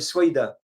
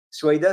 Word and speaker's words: Souaïda: d'une ville qui s'appelle, une région qui s'appelle Souaïda. Souaïda s'écrit S-W-A-I-D-A.